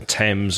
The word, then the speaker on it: Thames: voice number two or like the T sound like Thomas or Thames or time which is number three